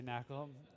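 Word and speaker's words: NaCl: high level knle Library it's actually pronounced salt uh I always say Knack from djb and Tanya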